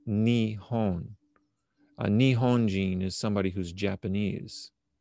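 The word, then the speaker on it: 日本: Now, if you look at the Chinese characters for Japan, these are the Chinese characters for Japan, and it pronounced Nihon.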